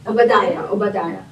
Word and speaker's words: Obadiah: Obadiah.